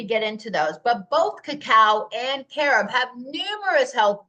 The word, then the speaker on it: cacao: Now, the way that they pronounced this was K-A-K-A-W, cacao. Cacao, right? So the Spaniards renamed this into cacao, spelled C-A-C-A-O, and that's what we're using now today.